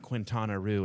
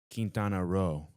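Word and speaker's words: Quintana Roo: It's not Quintanaroo. It's Kintanaro. Okay. So, it's spelled Quintanaroo though.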